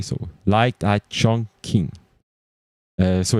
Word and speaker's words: Chongqing: And I don't know if I pronounce it well, but Chong, it's like as much as the way you pronounce Chong, but King, it's Q-I-N-G. G. Q-I-N-G. So Light Eye Chongqing.